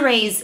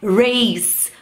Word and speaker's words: raise: Não é raise, como eu ouço muita gente dizendo por aí, é raise, to raise. E o verbo to rise tem esse sonzinho de z, não é to rise.